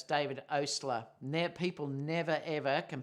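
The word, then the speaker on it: Oastler: um it is uh emphasis how do you pronounce your last name it's Osler um yeah so it's David Osler now people never ever can pronounce that name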